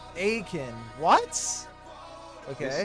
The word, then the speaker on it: Aitken: Common mispronounced Aitken. Wow. Actual pronouncing Aiken.